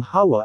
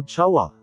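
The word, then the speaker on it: חוה: chet wow at he ang chet na first letter ng Hawa ay silent c kaya hawa ang bigkas hindi kawa o chawa gaya sa Hebrew word for month na hodesh na hindi binigkas na kadesh o chudesh ang hawa na ang ibig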